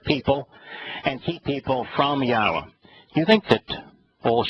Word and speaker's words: Yahowah: Advancing those things are conspiracies that hurt people and keep people from Yahowah.